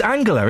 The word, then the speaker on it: Angela: sweeps to third term Angela Merkel is it Angela or Ang it's angular isn't it it is it's a hard G she has a hard